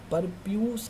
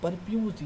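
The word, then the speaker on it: prepuce: वाली कवरिंग को आप क्या कह सकते हैं, परप्यूस कहते हैं, क्या कहते हैं, परप्यूस, ये बहुत ज़्यादा इंपॉर्टेंट है, ठीक है। इसके स्पेलिंग भी ध्यान देना, PERPUCE, इसे हम क्या कहते हैं, परप्यूस।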